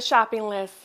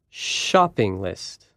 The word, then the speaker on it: shopping list: do you have the shopping list we can write it like this to show the first sound is a little louder shopping list some food names are